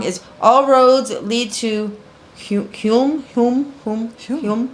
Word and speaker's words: Hulme: So the name of the song is All Roads Lead to HULME. Is that how you say it? HULME? HULME. See? We're from Hume.